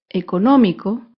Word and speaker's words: económico: es la palabra económico económico se acentúa en la antepenúltima sílaba económico y como se ha